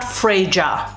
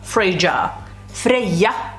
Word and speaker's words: Freyja: how to pronounce freyja it's not freyja freyja freyja gotta keep it to